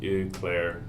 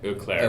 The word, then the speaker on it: Eau Claire: The West Eau Claire Park. Eau Claire? Like French? Yeah. Okay. Eau Claire. Eau Claire is probably closer.